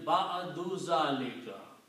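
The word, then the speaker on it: بعد ذلك: Now, if I combine these two together, it will be again, as the rule is that you pronounce one Dhamma. So it will be Ba'adu Zalika. Okay? So this will become Ba'adu Zalika.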